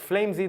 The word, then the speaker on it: FlameZ: you say your name Flames or flimsy and I'm like well in Israel everybody it's like flimsy that's the origin flimsy and then but you